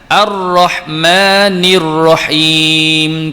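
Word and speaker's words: الرحمن الرحيم: Oke jadi contoh bacaan arrohmanirrohim kita nelponin kita kenalnya alif lam syamsiah Kita tahu cara bacanya Jange sebutlam tak boleh nak Baca Al rohmani Rohim taklimat segitu salah ya Mace kita kata attahiyat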